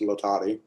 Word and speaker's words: Latati: Actually, the last name is pronounced Latati.